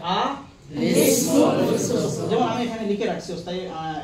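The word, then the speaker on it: الاسم الفسوق: তাহলে আমরা দুইটা সাকিন হরফের মধ্যে প্রথম সাকিন হরফের নিচে আমরা একটা জের দিয়ে আমরা মিলিয়ে নিব। তখন উচ্চারণটা কি হবে? আলিসমুস। কি হবে? আ লিসমুল ফুসুক।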